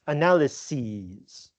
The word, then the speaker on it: analyses: So for example we have um analysis is analyses sis becomes ses this is from I believe it's from Greek and notice also the pronunciation it's not e it's ease analyses crisis crisis.